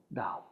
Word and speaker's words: Tao: Okay, so it's spelled with a T, it's pronounced with a D. Yu Ya Yo Dao.